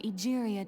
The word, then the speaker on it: Egeria: Egeria, not Aguria.